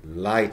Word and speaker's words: light: So, Licht. Okay, but we say light today, but you still write Licht.